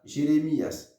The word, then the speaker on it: Jeremias: Il prononce comme ça, Jérémias, Jérémias, Jérémias. Ou dit L, on prononce L en légèrement.